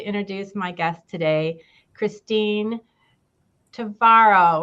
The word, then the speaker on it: Tvaroha: And without further ado, I would like to introduce my guest today, Christine Tvaroha, which rhymes with tomorrow, who is our Director of Senior Services here in Bloomfield Township.